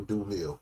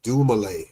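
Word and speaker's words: Dumile: Dil is pronounced dumlay.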